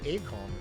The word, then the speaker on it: AiCOM: At the top, you'll notice it was founded by former AiCOM employees. And before you roast me, that is the correct way to pronounce it.